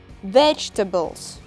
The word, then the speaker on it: vegetables: И еще раз ударение на первый слог – vegetables.